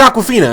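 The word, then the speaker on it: Awkwafina: name is Aquafina and not spelled like the water spilled aw k waa fi na that's that's Aquafina I'm alright I mean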